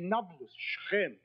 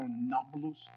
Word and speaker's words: Nablus: conquered scheming quoted naples the arabs have difficulty pronouncing a p so not palouse became nabaloos if anything we should